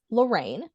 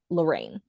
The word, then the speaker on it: Lorriane: you I do so it's pronounced Lorraine so you got it right but it's spelled laurianne